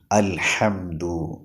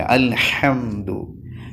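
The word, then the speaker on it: الحمد: രൂപത്തിൽ ആയിട്ടുണ്ട് മുഹമ്മദ് അല്ലേ അൽഹംദു അത് പാടില്ല അൽഹംദു ഹാ കഴിഞ്ഞാൽ പിന്നെ മീം ആണുള്ളത് മീം രണ്ട് ചുണ്ടുകൾ പൂട്ടിയ രൂപത്തിൽ തന്നെ പറയണം അൽഹംദു എന്ന് പറയരുത് നൂന് പറയുന്ന ഉച്ചാരണത്തിൽ ആവരുത് അൽഹംദു പിന്നെ ദാലാണ് കഴിഞ്ഞ ക്ലാസ്സിൽ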